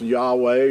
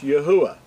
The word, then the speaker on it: Yahuwah: Now, a lot of people think it's Yahweh or Jehovah and all these other variations, but to be accurate, his name is pronounced Yahuwah.